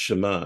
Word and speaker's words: Shema: It's spelled S-A-M-A, but pronounced Shema.